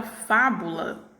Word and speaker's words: fábula: né observa aqui ó que a sílaba tônica da palavra fábula é a pílula fa né que ela está tendo pronunciada aí com maior intensidade e ela está na posição antepenúltima então ela classificavam como